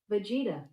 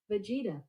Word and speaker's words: Vegeta: Here's pronunciation for Vegeta. Vegeta. Oh, you were... I'm saying. I'm 2 for 2, shockingly. I threw you off twice when you were correct. Vegeta.